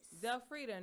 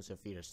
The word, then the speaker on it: Zelfredia: Teacher Charlotte, you seem to have spelled Zelfredia's name wrong. The I does not go there. Oliver, mind your own business. My mommy said the I is silent.